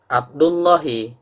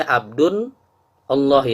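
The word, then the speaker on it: عبدُ اللهِ: Jadi tadi cara bacanya Abdullahi, tidak boleh Abdun Allahi, tak boleh. gulamu Zaidin, tidak boleh gulamun Zaidin. Karena mudhof tidak boleh bertanwin dan mudhofun ilaih wajib kasroh.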